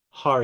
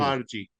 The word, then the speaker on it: Kharji: So the wine that we're trying right now, Khatoun Hari. Kharji.